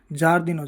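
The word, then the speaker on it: giardino: और अब जब उच्चारण जे हो गया और आई साइलेंट हो गया तो आई तो पढ़ेंगे नहीं। आ पढ़ेंगे तो ज अ यह हो जाएगा ज आई ए ज वैसे ही जी आई ई जे जी आई ओ जो और जी आई यू जु होता है इसके उदाहरण देखते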